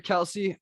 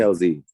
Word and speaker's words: Kelze: So, last question here, Kelsey. Is it? So, I wanted to also pronounce her name correctly. Is it Kelze or Kelsey? How should I It's pronounce it? Kelze. Kelze. All right, Kelze.